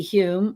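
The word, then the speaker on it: Home: But famous physical mediums such as D.D. Hume, who is one of the most famous and accomplished mediums ever. His name is spelled H-O-M-E.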